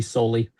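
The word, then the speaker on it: Soehl: I'm not sure if I'm pronouncing his name right, but it's s o e h l e. I believe it's pronounced soul. Could be solely, but anyway, he said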